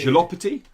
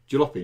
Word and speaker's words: Jalopy: Jalopity, the Jalopy. Jalopy, not Jalopity, Jalopy, the Jalopito?